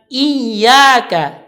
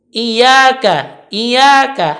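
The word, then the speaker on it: إِيَّاكَ: membacanya, yang pertama itu ketika kalimat iyyaka, dia membaca i-nya dengan e, maka bunyinya iyyaka. Ini salah. Atau bisa juga dia membacanya dengan tanpa tasydid. Iyyaka. Dia kurang menekan ketika tasydid. Dia membacanya dengan iyyaka. Tetapi yang benar adalah pakai iyyaka. Dijalankan ianya. Iyyaka. Karena huruf ya tadi bersifat rakhwah, mengalir suara.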